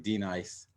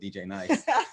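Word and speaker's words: D-Nice: You said what the people on CNN said, DJ Nice. I've been listening to a video. They've been saying it wrong.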